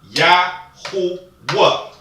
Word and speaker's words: Yahuwah: Now we have the three syllables. We have Yahuwah. Okay, we have the three vowels in there. Okay, so what we need to understand is that we have the two root words. We're making a three-syllable word.